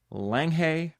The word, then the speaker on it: Langhe: village nestled in the Langhe hills. I promise you I went and looked up how to pronounce these words. I still can't get it. I think it's Langhe hills.